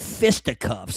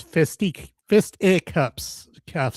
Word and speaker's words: fisticuffs: But is it fist to cuffs or is it fisticuffs? I always thought it was fisticuffs. it's fist cuffs. Is it? There's an I. Fist I cuffs.